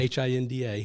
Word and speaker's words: Hinda: I need to make sure I have correctly pronounced hinda okay h-i-n-d-a hinda L honigman who was the president of